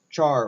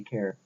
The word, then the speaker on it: char: and its data type character or char or care however you pronounce it but I usually just say care.